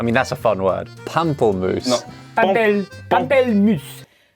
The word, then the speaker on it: pamplemousse: Pamplemousse. Pamplemousse. Pamplemousse. What do you think it means? Grapefruit. Yes! Yeah, I heard that. I feel like he said that in France. I mean, that's a fun word. Pamplemousse.